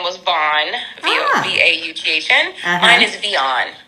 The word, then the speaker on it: Vion: Mine is Vion. I have like the feminine version of Vaughn, Vion.